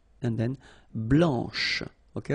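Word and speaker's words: blanche: final C and then blanch okay remember when you combine this C you get the sound sh blanch okay so BL blanch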